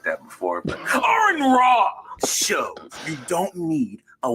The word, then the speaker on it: Aron Ra: saying ARON RA's name, like ARON RA, because that is the proper way to say that name.